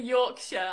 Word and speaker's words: Yorkshire: lift in the UK just say Yorkshire I love it Yorkshire your your your your shire York Shire yeah butter yeah we